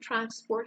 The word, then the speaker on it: transport: Because if you have the exact same word with 2 syllables used as a noun and as a verb, the stress changes. So the noun public transport or research shows is stressed on the first syllable, okay?